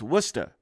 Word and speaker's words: Worcester: ago in Worcester, and the locals taught me how to say it. So I've always been looking forward to the opportunity to use my skill sets. And one of them is to pronounce this town in Massachusetts. It's Worcester. That's how the locals say it anyway.